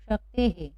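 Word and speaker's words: शक्तेः: हमने विसर्ग लगा दिया, तो यहाँ ए की मात्रा है विसर्ग के पहले, इसलिए यहाँ उच्चारण हे से होगा कुछ इस तरह से। तो क्या पढ़ेंगे हम इसको? शक्ते है। क्या पढ़ेंगे? शक्ते है।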